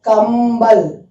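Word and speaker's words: कंबल: Kambal. Okay. Kambal. It is blanket. Now if you see here, kambal, see that sound, it is im sound also is coming. So it is kambal.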